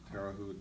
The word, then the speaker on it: Terre Haute: He left a federal penitentiary in Terre Haute, I can't pronounce it. Terre Haute? Terre Haute in Indiana.